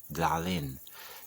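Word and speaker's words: Dahlyn: It's called Dalin, which is spelled D-A-H-L-Y-N, Dalin.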